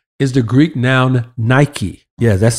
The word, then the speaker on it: Nike: John 5:4 for B is the Greek noun Nike yeah that's spelled that's that's that word n i k